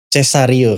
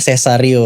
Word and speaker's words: Cesario: Sebenarnya memang banyak seperti Mas Ganden nyebutnya Cesario kan. Tapi sebenarnya pronunciation menurut orang tua saya adalah Cesario. Karena kebetulan saya juga lahirnya Cesar.